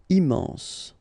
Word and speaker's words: immense: Final E not pronounced. Immense.